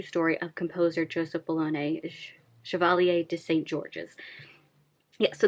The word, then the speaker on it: Chevalier: which I was pronouncing Chevalier um forget the French don't really pronounce their R's the way we do in English so it's pronounced Chevalier as I have learned